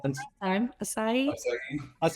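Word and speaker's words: açaí: Asai. Akai. Aki. A c ai. I don't have You had it right the last time. Asai.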